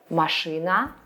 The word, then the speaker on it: машина: Машина, a car, is feminine. Look once again at the way we pronounce these words and try to not confuse them.